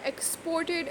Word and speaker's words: export: So the stress is on the last syllable, ed. They are now manufacturing more goods for export. So in this case the stress is on the start one, that is ex.